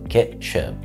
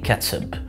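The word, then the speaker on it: ketchup: النقطة بتاعه بالانجلش قريب هو كاتشب. ك ك كاتشب. او في امريكا وكندا بيقول عليه كاتسب. كاتسب. عشان لو انت عايش هناك وسمعتها ما تستغربش.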